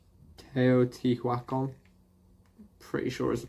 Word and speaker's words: Teotihuacan: excuse my pronunciation but i'm pretty sure it's pronounced or something like teotihuacan pretty sure is the pronunciation but i might